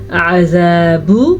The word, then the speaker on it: عذاب: عذاب، آئین کے تلفظ کا دھیان رکھیے، با کو کھینچ کے نہیں پڑھنا کیونکہ با پہ پیش ہے.